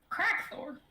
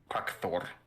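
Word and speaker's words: Krakthorr: name give them the word quack Thor okay spell that Cherokee k-r-a-k t h o r r crack Thor so literally yeah crack Thor two eyes at the end got it does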